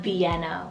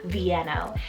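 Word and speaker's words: Vieno: means the thunder of god then we have vienno spelt v-i-e-n-o vienno and this one's derived from the capital of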